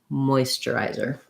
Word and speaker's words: moisturizer: sound then you can add in your stressed syllable moist moisturizer moisturizer okay thank you for that request and